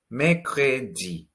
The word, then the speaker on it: mercredi: Mercredi. Mercredi. Here we have the French R in the middle.